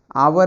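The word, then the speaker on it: hour: आवर है, तो आवर का मतलब आपका आ हो गया, तो आर्टिकल एन ले लेगा।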